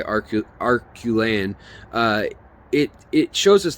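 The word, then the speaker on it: Acheulean: a real Revolution that the arcolaian age or archulean age depending on how you say it uh and I like to say arculane uh it it shows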